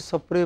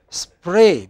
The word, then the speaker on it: spray: Because, you know, I myself say a spray when I go home. You know, I add an E before SP, but in the Northwest, they add an E between S and P.